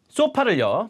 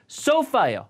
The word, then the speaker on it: sofa: 소파를요. 발음 볼게요.